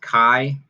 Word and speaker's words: chi: the solutes okay this symbol here this it's pronounced chi it's a greek letter chi okay and then